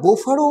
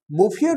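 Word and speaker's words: Bouffier: name was এলজিয়ারড বোফিয়ার তোমরা এটা বোফার উচ্চারণ করতে পারো বোফিয়ার উচ্চারণ করতে পারো এবং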